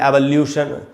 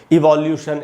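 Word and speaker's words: evolution: सोल्यूशन, पोल्यूशन, एवोल्यूशन, न कि सॉल्यूशन, पॉल्यूशन, एवोल्यूशन, इवोल्यूशन, ऐसे नहीं पढ़ना है। सोल्यूशन, पोल्यूशन, एवोल्यूशन। ठीक है दोस्तों, आपको इनकी प्रैक्टिस करनी चाहिए।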